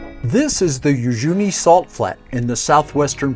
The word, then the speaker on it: Uyuni: the village of Yuni I've heard the name pronounced Yuni and Yi but I asked a local woman and she said Yuni so that is the pronunciation that I'll use